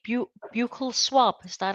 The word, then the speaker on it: buccal: 1, did you say buccal swab? Is that how you say it? Some say buccal, some say buccal.